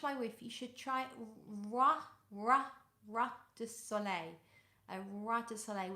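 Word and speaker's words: roi: So in French, it's almost like you would say R-W-A, Ra, Ra.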